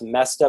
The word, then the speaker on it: Moesta: It's actually pronounced Mesta, but it's Moesta.